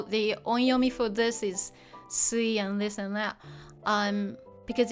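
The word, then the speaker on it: 水: The reading changes and mizu or sui is pronounced sui, not mizu in this case.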